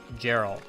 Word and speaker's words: Geralt: Hard G. Okay, Geralt.